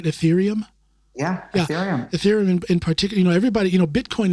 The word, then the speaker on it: Ethereum: Ethereum in particular, am I pronouncing it right? Ethereum? Yeah, Ethereum.